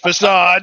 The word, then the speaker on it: facade: Facade. It's pronounced facade.